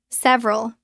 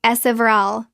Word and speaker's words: several: Several. It looks like several, 3 syllables. Natural pronunciation. Drop the middle E. It becomes several, 2 syllables.